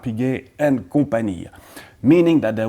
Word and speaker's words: Piguet: was originally called Audemars Piguet and Compagnie, meaning that there were other partners, family members at the start. Anyhow, you don't pronounce the S, it's not Audemars, you don't pronounce the T, Piguet, and many do refer